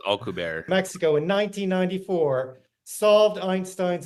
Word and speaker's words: Alcubierre: He butchered his name as well. It's Alcubierre. It's Alcubierre.